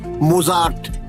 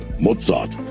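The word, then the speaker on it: Mozart: রচনা শুনিনি বটে কিন্তু এদের নামের উচ্চারণগুলো অন্তত আমার জানা আছে কিন্তু আপনার নেই কিরকম হাইডন মোসাদ বেটফেন এই হল আসল উচ্চারণ হাইডেন মোসাদ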